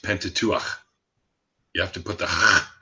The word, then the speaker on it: Pentateuch: the of the Bible but well that's the Pentateuch but still so it's it's actually just so you know because I was raised Jewish it's actually pronounced Pentateuch you have to put that at the end